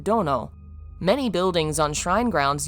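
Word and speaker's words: 殿: honorific used for the Lords of those palaces pronounced Dono many buildings on Shrine grounds use the kanji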